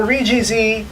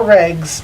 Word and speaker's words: ReGZ: Today's selected character is the Londo Bell Unit Attack Use Mobile Suit, the Refined Gundam Zeta, or ReGZ, or ReGZ, or Regs, however you choose to pronounce this mobile suit.